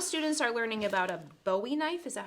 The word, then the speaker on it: Bowie knife: and then middle students are learning about a Bowie knife is that how you say it yeah Bowie knife um sure and then you learn a story